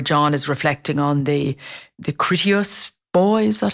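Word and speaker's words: Kritios Boy: the narrative where John is reflecting on the Critias boy, is that how you pronounce it?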